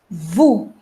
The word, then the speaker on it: vous: So we are not going to pronounce S. So it will not be noose, it would be nu. The next is vous.